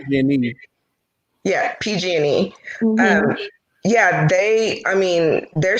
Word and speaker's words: PG&E: And I know you being from the Bay Area, that explosion that P&G had out there, that was a major, major thing. That was huge. It's actually pronounced PG&E.